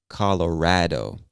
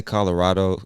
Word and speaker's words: Colorado: Now, some people, especially people from the state, I hear them pronounce this as Colorado. I say Colorado. Other people say Colorado. There's no incorrect or correct way. You can pronounce it either way, and it's totally fine.